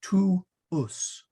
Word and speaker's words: tuus: We say, again, you pronounce the W, tuus.